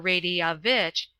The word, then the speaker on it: Radovich: pronounced Seafia, talking with Radovich. or Radiavitch, as it should be sounded, the foreign secretary, on what the Sobrangi, it is pronounced Sufrangi, would be likely to do.